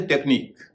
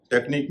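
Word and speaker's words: technique: जैसे टेक्निक टी ई सी एच एन आई क्यू यू ई टेक्निक में क्यू का उच्चारण क हो रहा है। इ जो है साइलेंट है।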